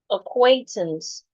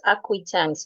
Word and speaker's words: acquaintance: Fortunately, the word is acquaintance, not acquaintance.